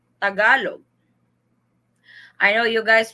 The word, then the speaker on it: Tagalog: What is the proper pronunciation of Tagalog? Tagalog.